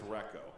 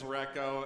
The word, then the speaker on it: Reko: So he said it's Rekko. is what I've been informed. It's not Rico. I know. I say Rico. It's Reko. That's the official pronunciation reported to us.